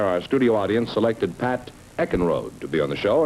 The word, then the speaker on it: Eckenrode: Pat Evenrood, is that the way you pronounce it? No, it's Eckenrode.